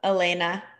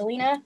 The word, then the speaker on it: Elena: Elena. It's actually pronounced Alina.